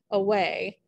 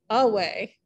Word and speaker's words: away: For example, away. If you tried to say it with the emphasis on the first syllable, it'd be like away. And that sounds weird and unnatural.